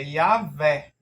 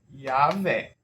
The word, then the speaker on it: Yahvé: Mas como geralmente no hebraico a acentuação da palavra é no final, mesmo esse Segol estando aqui, ele tende a ser como se fosse acentuado aqui, tá? Isso é um ponto importante. Então, essa pronúncia aqui é Yahvé.